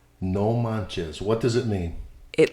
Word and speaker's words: no manches: primarily by Mexican Spanish speakers today's word is no manes no manes I've heard that or I've read that before how do you spell that no n o manchez m a n c h e s no Manz what does it mean it literally translates to